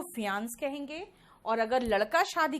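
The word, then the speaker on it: fiancée: जो है महिला, वो फियांसी है, ठीक है। यहां पे फियांसी और फियांस बोलते हैं, बाकी ई का कहीं भी प्रोनाउंसिएशन नहीं आता, ठीक है।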